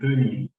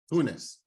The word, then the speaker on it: Tonis: Tell everybody on Fright School how your names are properly pronounced. It's Canan. and Tonis. Canan. Yes. And Tonis. To what? Tuni? Do you say that? Do you say the S? Tunis.